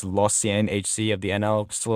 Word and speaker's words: Lausanne: After spending some time in the minors with the Hershey Bears and then being loaned to, I believe it's pronounced Lausanne HC of the NL, still in Switzerland, it's safe to say he won't be ready for any NHL action sometime soon.